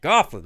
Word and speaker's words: Goflin: Rhymes with coffin. Goflin.